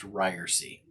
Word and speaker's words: Ryerse: hey everybody this is uh rob rarcy it's good to see you hopefully uh you are checking things out welcome to the inaugural episode of my new podcast that is called uh it's pronounced ryersy and listen i gotta tell you we've spent